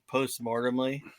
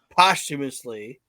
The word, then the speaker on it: posthumously: Post-mortemly. Something I don't know. I thought it was post-human. Humorously. Post-mortemly. Did I say it? Post-mortemly. I have no Posthumously? idea. Huh? Posthumously? Posthumously inducted into the We Can't Wrestle podcast is Chad Austin.